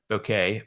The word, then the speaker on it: bokeh: It just looks like the bokeh, or the bokeh, pronounced like okay, bokeh of the camera.